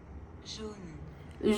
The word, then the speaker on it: jaune: Jaune. June. ¡Ay, junio! Yo. Se dice como junio.